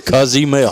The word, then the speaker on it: Cozumel: And who knew that leaving tonight we would know the correct pronunciation of Cozumel. That's what it is. It's It sounds like my cousin's email. It does. Cozumel.